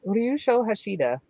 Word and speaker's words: Ryusho Hashida: Ryu Shoshida.